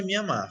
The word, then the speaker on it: Mianmar: Cara, o certo mesmo é Mianmar.